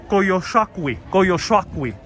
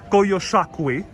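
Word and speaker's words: Coyolxauhqui: Koyoshakwi. That's how you say it. Koyoshakwi.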